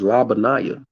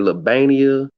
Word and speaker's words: La Banaya: called so many different it's la banaya like obadiah jeremiah labonite i didn't hear labania the bani uh if